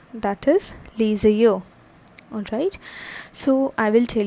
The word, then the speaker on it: les yeux: Right, so how it is pronounced? That is les yeux.